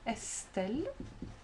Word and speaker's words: Estelle: Or we can think of the name Estelle. S is in between a vowel and a consonant, and therefore it's pronounced as S.